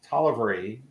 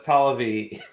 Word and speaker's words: Tollervey: special guest uh tolivery did i pronounce that right no but don't worry about it i'm used to it that's not okay how do you pronounce your last name oh talavee that's a developer of